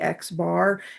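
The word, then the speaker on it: x̄: Okay, so if we ever see an X with a little line over top of it, it's pronounced we we say Xbar and that just is the symbol we use to represent the mean.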